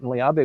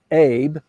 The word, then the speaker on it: Abe: their name until Mr Abby came back on stage and then uh it took them a couple years to figure out that it's pronounced ab and not Abe So that's a that's